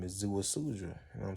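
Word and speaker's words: Ziusudra: And it's this guy named Atrahasis, and his other name is Zuasudra. You know what I'm saying? It's different ways to pronounce it. Everybody say it different, but that's how I say it. Zuasudra and Atrahasis.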